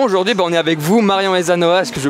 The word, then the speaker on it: Marion Aysanoa: Et justement aujourd'hui on est avec vous, Marion Ezanoa, est-ce que je prononce juste aujourd'hui?